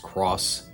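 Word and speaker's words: Xros: titled digimon cross wars yes it's pronounced cross aired in japan three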